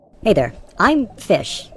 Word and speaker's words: Phish: hey there I'm fish it's spelled p h i s h I know it's not your normal fish with an F but pH is in so that's my name I'm